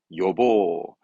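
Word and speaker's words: 予防: 발음은 예니까. 요보. 흔히 예약의 예자잖아요. 요보스르. 예방은 요보.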